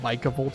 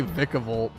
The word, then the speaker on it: Vikavolt: It should be Vika like Pika instead of Vika like or Vikica like Viking. See I say I say Vikavolt.